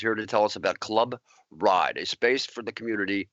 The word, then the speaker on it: Club RYD: pronounce that I just recently opened it it's pronounced Club ride the r it's Club ryd pronounced Club ride um the ryd stands for recover your dreams